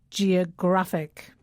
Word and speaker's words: geographic: you hear the difference when we say adjectives that end with i the stress falls on the penultimate syllable that's the syllable just before the last one so it's geography but Geographic geography Geographic and we have photography photographic yes and there's other